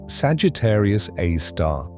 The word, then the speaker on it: Sagittarius A*: They named it Sagittarius A, pronounced Sagittarius A star with the asterisk denoting it as an exciting object.